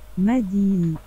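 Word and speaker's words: مدينة: But they write it with that A at the end. This is city. The city ends in that. But then it'll change. Why should Medin. I don't really pronounce the A.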